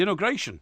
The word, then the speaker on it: inauguration: The inauguration. The inauguration? Yes. Inauguration? Yes, that's right. The inauguration. The second syllable you have to pronounce.